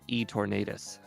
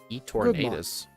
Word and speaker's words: Eternatus: I just topped out E-Tornadus. Eternatus. E-Tornadus. Eternatus. Oh. Wait, we never played- Me mispronouncing an E to an O made it a Wait. completely different Pokemon to you?